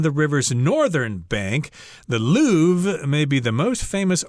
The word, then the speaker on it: Louvre: And I think most people speaking English would say the Louvre, but with a lot of French words, of course, you'll sound really cool. You'll sound really sophisticated if you know how to pronounce the word in French, in Francais itself. So I think you're supposed to say the Louvre, something like that.